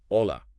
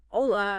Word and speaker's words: hola: you know the classic hola for hello right but one thing that he points out is that the H is silent yeah it's more like hola hola and this is something